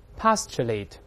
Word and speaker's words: postulate: 我们大声先读起来 postulate，中间这个字母 T 发 ch 这个声音，再来一